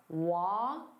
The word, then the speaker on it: walkable: So here there are 3 sounds, walkable. So notice that and then bull. It's not able, it's walkable, walkable.